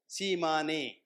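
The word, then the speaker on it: Tsimane: These are it's spelled as T S I A M ne Shiman.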